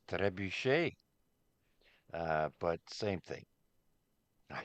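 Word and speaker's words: trebuchet: You got to say it properly. It's trebuche.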